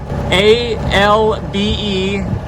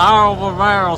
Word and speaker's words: Albemarle: Well, because it is spelled ALBEMARLE.